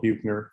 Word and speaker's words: Buechner: Fred Buechner, his last name looks like it's spelled Buechner. Frederick Buechner.